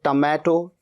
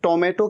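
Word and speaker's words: tomato: कई students टोमेटो कहते हैं टमाटर के लिए, टोमेटो, टोमेटो नहीं, टमैटो। ट, यहां पर ओ का साउंड अ का साउंड है, और यहां पर ओ का साउंड ओ का साउंड है। टमैटो।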